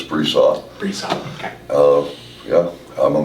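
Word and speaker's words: Bresseau: Some people pronounce it Bresau, but it's Bresau.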